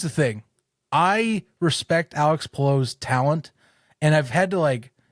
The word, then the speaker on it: Palou: Are you excited for Alex Palou?